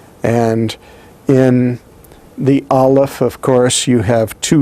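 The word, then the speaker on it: א: the printed form next remember that aleph all by itself has no sound it is a silent letter and as a silent letter you would never find it pronounced in any way at the beginning the middle or the end of any word next we have the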